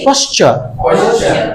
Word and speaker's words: posture: Sit with a straight posture.